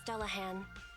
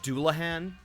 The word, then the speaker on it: Dullahan: The White Star Institute has it registered as Dullahan, a superior ethereal. Actually, it's pronounced Doulahan.